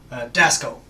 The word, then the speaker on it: Dasco: Dasco. Dasco. Dasco. Dasco. Like disco, but with an A.